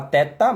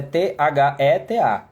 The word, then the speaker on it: theta: A gente fala teta, mas é T-H-E-T-A, theta.